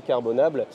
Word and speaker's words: Carbonable: présenter ce qu'est carbonable on prononce à la française d'accord c'est carbonate on laisse libre cours française donc est-ce que tu pourrais nous présenter ce qu'est carbonable et aussi nous expliquer